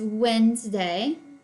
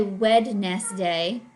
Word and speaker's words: Wednesday: way to spell Wednesday even though it doesn't sound like we hear the D we don't say Wed nest day but that's the way it's spelled Wednesday Thursday Friday and